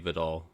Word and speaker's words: Vidal: Um I don't know how to say his first name, but Vadell to carry the load. Hassan Haskins and Kamani Vidal. Yeah, Kamani Vidal um to carry the load.